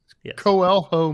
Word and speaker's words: Coelho: funny enough there's a great wine label called quelo yeah that's spelled with a c by the way Coelho Medallion uh but it's a Portuguese name and I borrowed that